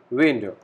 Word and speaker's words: Wände: So, this letter has a pronunciation of A, very similar to English. So, we call it the Wände, plural. walls.